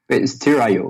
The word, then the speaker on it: Steerio: So, Nicolas, you had mentioned Steerio, or how do you pronounce that correctly? Steerio.